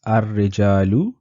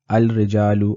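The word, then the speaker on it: الرجال: Please note that I am pronouncing this ar-rijalu and an-nisa'u. I'm not pronouncing it al-rijalu or al-nisa'u because ra and noon are not part of the moon letters or the qamari haruf that we studied previously. So in these instances, we will not be pronouncing the lam on al.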